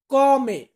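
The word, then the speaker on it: come: তো কিভাবে, এটাকে আমরা বলবো কমে। কমে। কমে মানে কিভাবে। আবার অনেক বাক্যর ক্ষেত্রে আমরা এটাকে উচ্চারণ মানে সেম শব্দটাকেই আমরা উচ্চারণ করি কমে।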